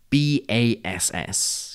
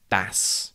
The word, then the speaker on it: bass: B-A-S-S can be pronounced bass, and it means a type of fish, and bass, and it is a type of musical instrument.